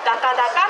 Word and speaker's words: 打花打火: 打つ花、打つ日と書いてダカダカと読みます。